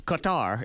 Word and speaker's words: Qatar: the only why in Qatar is the only Q or actually it's pronounced gutter sometimes ooh but it's an